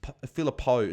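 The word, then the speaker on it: Phillipou: with philipo going down injured apparently it is philipo as well apparently that's the correct pronunciation so shout out to as well from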